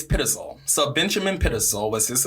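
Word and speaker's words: Pitezel: look it up okay we looked it up it's pitasal so Benjamin pitisol was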